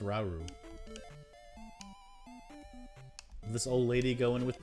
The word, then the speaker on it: Rauru: No, it's pronounced Rauru.